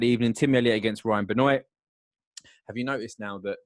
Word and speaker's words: Benoit: be associated with the benoits so it's like benoit but it's like the teaser the t's ain't pronounced in french mate i know what